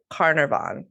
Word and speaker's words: Carnarvon: Yeah, the little pronunciation lady said it's Carnarvon. So the fifth Earl of Carnarvon, which Jessica also pointed out probably sounds much better in an English accent.